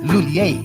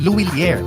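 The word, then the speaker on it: M. Lhuillier: Ay, padala ko na lang sa sa Loliler. Nahihirapan ka rin bang bigkasin ang brand name ng M. Lulier? English speakers commonly pronounce it as Lulier. But for Filipinos, mas madaling ibigkas ang Luilier.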